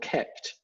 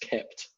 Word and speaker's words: kpt: um from google called kept it spelt kpt but pronounced kept and it's generally a